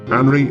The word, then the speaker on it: Anri: For, in Japanese, Anri is a unisex name. Well, actually, there are several homophonous versions of this name with different meanings of elements that are pronounced as An and Ri, which together may be